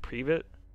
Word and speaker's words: Privet: Isn't it pronounced like Privet? Yeah. Apparently, I was saying private the entire time.